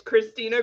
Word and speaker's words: Kristina: name did i get christina right it's german if that helps oh i didn't spit enough then okay no it's christina you know like